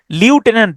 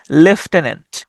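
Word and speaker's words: lieutenant: মিথ্যা তুমি 10 পিপড়া তবে এটার উচ্চারণটা কিন্তু লিউটেন্ট না এটার উচ্চারণটা হচ্ছে লেফটেনেন্ট কর্নেল কর্নেল উচ্চারণটা হচ্ছে কর্নেল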